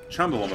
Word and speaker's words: Chumbawamba: Chumbawamba, first of all. But if you pronounce the CH like a K, it could be Cumbawamba.